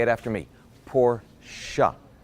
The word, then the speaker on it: Porsche: now while we're on the subject it's actually pronounced Porsche up say it after me poor siya it's not Porsche there you go this pronunciation lessons been brought